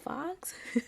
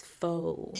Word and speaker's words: faux: And I said, yeah, fox. And he's like, it's faux.